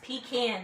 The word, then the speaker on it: pecan: And it's pecan, not Pecan.